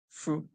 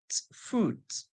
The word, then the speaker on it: fruit: we hearing fotot so the song for the UN and I is o fruit o fruit okay we're doing well